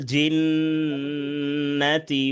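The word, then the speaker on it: ٱلْجِنَّةِ: এরপরে খেয়াল করেন, মিনাল জিন্নাতি ওয়ান নাস, বলেন। من জিন্নাতি الجنة والناس জিন্নাতে টান দেওয়া যাবে না, হরকতের উচ্চারণ তাড়াতাড়ি।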